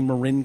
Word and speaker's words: Marin: sir, excuse me, I think you pronounced that wrong. It's actually Marin County.